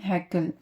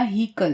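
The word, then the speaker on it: Haeckel: है, लेकिन इंपॉर्टेंट है हैक्कल या हीकल, जो भी प्रोनाउंस करें हम।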